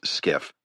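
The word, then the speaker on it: SCIF: He pronounced the acronym as skiff, a sensitive compartmented information facility.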